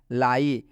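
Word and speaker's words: lie: दिख रहा है ना लाई तो जब भी इस आई आया है तो इस आई का उच्चारण आई से हुआ है लाई मतलब होता है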